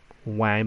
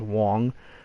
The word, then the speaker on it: Wang: Chien-Ming Wang, or Wang, but I think it's pronounced Wong, against Daniel Cabrera.